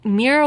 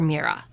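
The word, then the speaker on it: Mihrah: I spelled it m i h r ah for mera or mira would probably be how it would be pronounced.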